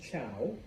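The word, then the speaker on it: Zhou: The Shang introduced, various things into Chinese culture, but there's another group, and yes, I know it starts with a Z, but it's pronounced Chow.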